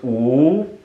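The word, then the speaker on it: 五: for 5 more minutes in Chinese the number five is pronounced ooh my mom would say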